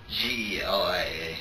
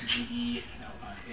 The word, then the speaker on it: Gelia: G-E-L-I-A. G-E-L-I-A. How do you pronounce it?